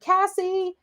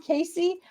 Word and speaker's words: Casey: I go places and they're yelling like Cassie Cassie and I'm like do you mean Casey oh it could be